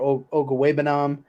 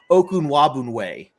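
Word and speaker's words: Okwuegbunam: it's like dude it's it's phonetically pronounced like printed in front of you and you've had a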